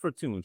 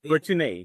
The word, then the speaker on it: Fortuné: It's not Fortuné. She has an accent on the end.